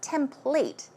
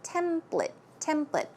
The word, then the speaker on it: template: But Joanne pronounced it as template. Maybe that's the Australian way of pronouncing it. But in American English, we say template.